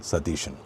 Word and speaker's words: Satheesan: So totally there are three or rather four long vowels here she da mo and t vader dhamodan satishan.